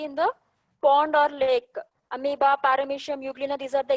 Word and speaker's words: amoeba: O is silent, you have to pronounce it as amoeba. So the single-celled organism which you can see in the pond or lake, amoeba, paramecium, euglena, these are the examples of the unicellular organism.